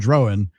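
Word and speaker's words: Drohan: But Sproat and Drowan both have the long O sound, and it's like I just can't keep the two.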